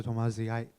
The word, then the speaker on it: Tomasi: Thank you so much, Professor Tamazi. I just have a. Thanks for pronouncing my name right.